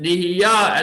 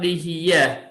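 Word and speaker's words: נהיה: He says that the word nihiyah should be pronounced with a comment under the yud, nihiyah and not nihiyeh.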